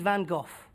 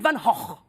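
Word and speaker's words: Van Gogh: stage you know we pronounce his name Vincent Van go the Americans they pronounce his name Vincent Van go both wrong both wrong oh yes the Dutch they pronounce his name Vincent Van HW van HW and that's because don't pronounce the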